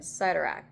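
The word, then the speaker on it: Cyttorak: I've heard it pronounced Citurak and Cidurak, so I'm not sure which one is technically correct.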